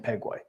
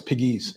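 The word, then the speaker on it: Pigue: you know that because I keep saying pegue only because it re it rhymes with P JP Peg you know yeah no it's Piggies okay yeah anyway so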